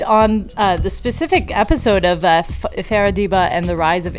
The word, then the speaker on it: Farah: You want to say it like Farrah Fawcett, like Farrah.